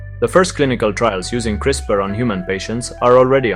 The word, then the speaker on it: CRISPR: Crisper gene editing, pronounced crisper.